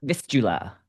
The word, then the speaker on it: Vistula: So, in Beneath the Ice of the Vistula, you are playing Vistula. Vistula.